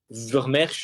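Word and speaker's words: Vermeersch: Donc, avec la blessure de Florian Vermeers, Vermeers, si je le prononce à la française.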